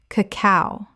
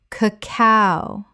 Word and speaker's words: cacao: phở phở Word 40: cacao Common mispronunciation: cacao Correct pronunciation: cacao The stress is on the second syllable, not the first.